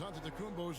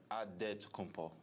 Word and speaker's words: Antetokounmpo: the spelling of Giannis Antetokounmpo's last name. He helped set the record straight of how you pronounce it. The Nigerian way, you gotta say with a D, so it's Antetokounmpo.